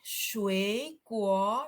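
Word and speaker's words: 水果: Ini bukan sui tapi su kuo.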